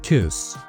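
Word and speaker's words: күс: And yes, Kus. That's the Altai pronunciation of Güz, meaning autumn, with the consonants devoiced in the initial and final positions.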